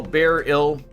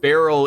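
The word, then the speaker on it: beryl: be near it right pronounced a little differently though bear ill it's a mineral oh so it's not not it's not like Barrel in Trails it's be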